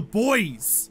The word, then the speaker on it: buoys: is those are the boys also the buoys i would say boys but it's spelt weirdly and i don't that's why i pronounce it but those are